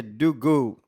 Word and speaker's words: DoGo: o futuro é Maker na verdade a pronunci seria Du go Maker que é vai faça vai faça Maker né eu tô aqui